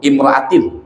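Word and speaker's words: امرأةٍ: Jadi bacanya kan imro'atun, imro'atin ya, jadi badal.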